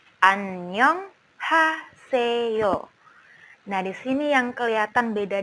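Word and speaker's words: 안녕하세요: perkalin perkatanya suku katanya annyeonghaseyo Annyeong haseyo nah Disini yang kelihatan beda di romanization yaitu huruf vokal bunyinya senyum2 juga temen-temen tidak membaca Anyeong tetapi bacanya Annyeong c-nya tidak kelihatan New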